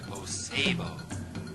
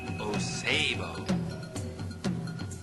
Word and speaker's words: Osebo: You will meet the fierce leopard, Osebo. Say his name with me, Osebo.